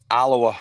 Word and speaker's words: Alloa: It says that you're from, I'm pronouncing this right, Alloa in Scotland? Alloa, yes.